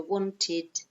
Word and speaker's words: wanted: So we do add a syllable in this case, okay, and we pronounce it id, okay, not ed, id, okay, so wanted, needed, hated, okay.